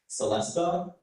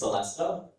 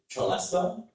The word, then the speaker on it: celesta: Celestea is one of the pronunciations. The main one is Celestea. There is an alternate pronunciation that I do not recommend is cholester.